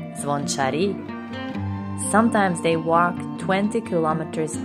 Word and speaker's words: zvončari: sometimes the bell ringers called zvon chari or as locals say zvon chari sometimes they walk 20